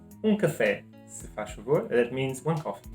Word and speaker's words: se faz favor: So if you go to a shop, you just say café, se faz favor.